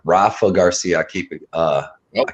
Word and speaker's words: Rafa Garcia: of the night i got jakar close and hoffa garcia rafa garcia i keep it uh i keep pronouncing his name remember i was getting corrected